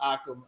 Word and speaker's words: Occam: but I think it's actually pronounced Occam after it's like a medieval priest.